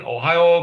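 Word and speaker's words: おはよう: That's kind of easy to remember because of the state. Ohio. Ohio go.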